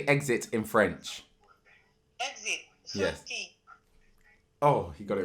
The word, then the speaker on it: sortie: Sortie. Oh, he got it right. I thought it was sauté.